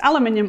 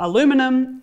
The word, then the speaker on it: aluminium: If you are, you've probably been wondering why I haven't been calling it aluminium. The good news is that both are correct, so you don't need to spend any time commenting on my pronunciation.